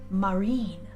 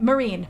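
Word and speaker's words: マリン: Her name, get this, her name is Marine. Marine like the ocean. Well, that works too. Yeah, in Japanese That's it's cool. pronounced Marin, but Marin. but Marine basically if you pronounced it incorrectly.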